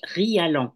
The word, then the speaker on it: Rialland: Chantal bonjour Anne Hélène mon nom se prononce rialan c'est compliqué r pardon